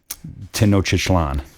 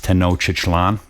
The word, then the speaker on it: Tenochtitlan: I believe it's pronounced, and some people are gonna argue with me about this, but I think it's Tenochtitlan. Some people pronounce it Tenochtitlan. I believe it's Tenochtitlan.